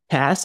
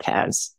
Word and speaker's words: Tas: And what I love is how you say Tass as in sass, not Taz.